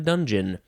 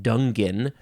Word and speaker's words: dungeon: probably dung in a dungeon even though you don't pronounce it that way it's not dungen it's dungeon but the spelling is there so it is a